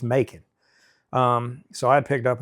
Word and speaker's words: Macon: I have no clue where McCoon is.